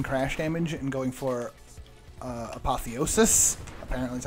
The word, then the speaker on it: apotheosis: I wonder, with doing a pulse build, I wonder if, basically ignoring crash damage and going for, apotheosis, apparently that's how you pronounce it, wouldn't be a bad idea.